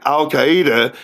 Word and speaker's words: Al-Qaeda: Al-Qaeda, not Alqaeda.